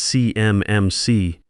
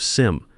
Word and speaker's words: CMMC: I notice he mispronounces CMMC framework. He says it's CMMC, spelling it out letter by letter like he's reading from cards instead of SIM like anyone who's actually worked with federal compliance would say.